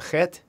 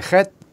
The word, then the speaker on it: chet: Is it a chet, a kaf, or a vav? Chet, and that chet, you pronounce it like you're like it's like a hissing cat, like.